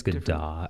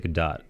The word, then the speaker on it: Godot: But is it Godot or Godot? I keep hearing everything. I think it's Godot. I think she pronounces it Godot, but I like saying it Godot because it sounds prettier. Right.